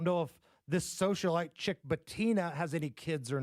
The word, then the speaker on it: Bettina: now off the market as he's getting married to his girlfriend and socialite, Bettina Anderson. Is that how you say her name? Bettina? Yes.